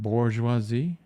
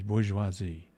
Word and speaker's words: bourgeoisie: Is there's no R? You don't say that bourgeoisie? It's bourgeoisie. Well, you got to say it like French.